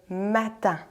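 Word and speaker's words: mattan: On l'appelait le matin, qui s'écrit M-A-T-T-A-N, le matin.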